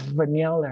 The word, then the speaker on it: vanilla: เ สี ย ง เ ป็ น vanillavanilla vanilla นั่ น เ อ ง อ อ ก